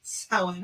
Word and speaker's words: Samhain: Way to go on pronouncing Samhain right.